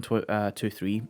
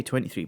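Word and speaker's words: Megazone 23: So yeah, and then I watched Megazone 2-3. I was gonna say 23, but it's pronounced 2-3.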